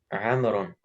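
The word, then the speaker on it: عمرو: He says, Amr says, Afwan, Amr or Umar? Amr. Amru, how do you say his name? Amrun. Barakallah fi. Amrun. So what's the law doing there? Did we read it? No, it's just to show that it's not Umar.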